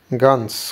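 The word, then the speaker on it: gehen: good thank you গেন এটাকে অনেকে গেহেন বলে যারা আসলে জানেনা ভালো করে প্রোনাউন্সিয়েশন কিন্তু এটা গেহেন না এটা হলো গেন এন এই ভিতরে হ টা সাউন্ডটা হবে না এই যে যখন ভিতরে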